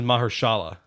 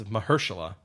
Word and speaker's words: Mahershala: I always pronounce it as Mahershala, but it's Mahershala Ali, which I just thought